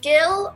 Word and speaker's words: Gil: last name is it gill or truth be told it is he it is a spanish name my husband is uh of spaniard descent and so the correct pronunciation is but most people would